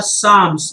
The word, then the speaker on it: psalm: punctuation her poems are psalms guys this word is psalm with the silent p and hymns that is